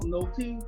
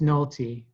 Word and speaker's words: Nohelty: 50 shot of people i i want to pronounce the the hel tui you know but it's it's just nalty it is but like